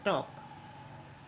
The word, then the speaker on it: talk: जैसे टॉक, TALK, टॉक, टॉक में क्या साइलेंट है? एल साइलेंट है।